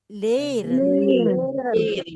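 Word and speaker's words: leren: Liren liren. Bacanya liren berarti belajar. Kalau saya penggal berarti itu dia ee panjang ya.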